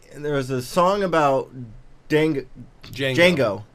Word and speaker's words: Django: There was a song about Django. The D is silent. Yeah, there was a title song. The song about Django was a lot like the song about the sheriff.